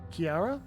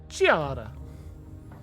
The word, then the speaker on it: Giada: be on September 4th Kiara all right Kiara isn't really an Italian way to pronounce it Giada Giada skewera you can't